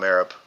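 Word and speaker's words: Merab: I call him Marab. This is M E R A B. Marab. Okay. Because in the UFC there's a guy spelled like that and they call him Morab.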